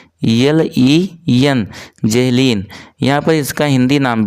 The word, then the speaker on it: Zahlen: Spelling पे आप ध्यान देंगे, इसका स्पेलिंग होता है ZAHLEN, जेहलीन।